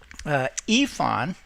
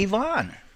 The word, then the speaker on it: Yvonne: And I learned last year or so, Yvonne is what it looks like, but her name is actually Yvonne.